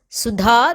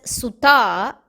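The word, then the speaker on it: सुधा: is nectar or amam it is important to note that we pronounce it as DHA the fourth da not as ta because if we say it as sutta then it means means daughter in one of the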